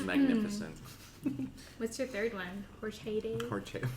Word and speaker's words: horchata: Horchata? Yeah. Horchata. That's the authentic pronunciation.